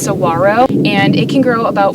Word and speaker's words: saguaro: cactus in the country and they're called the saguaro cactus it's actually technically pronounced saguaro and it can grow about 40 feet tall